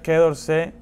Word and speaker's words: Quai d'Orsay: Aquí tengo un Quai d'Orsay, o como se debe pronunciar, Quai d'Orsay número 50.